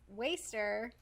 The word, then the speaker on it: WSTR: know ones that are difficult to pronounce waster or as me and Michelle call them wstr and we'll probably continue